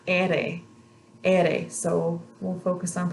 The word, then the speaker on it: ere: This is the letter ere. Ere. So we'll focus on Portuguese another time. Makes a totally different sound in their alphabet, but in the Spanish alphabet is pronounced ere.